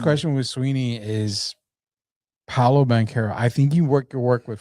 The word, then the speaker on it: Banchero: We can say Banchero.